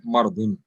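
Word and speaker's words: مرض: Marz, we know we call it marz because in pronunciation in Urdu, dod is pronounced as za. That's why marz, or in Arabic it is actually mardun.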